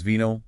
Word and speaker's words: vino: The guide stresses vino, wine, and vino he came sound identical.